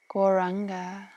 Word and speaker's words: Gauranga: so I'll sing the mantra gauranga we say in four syllables go so I'll say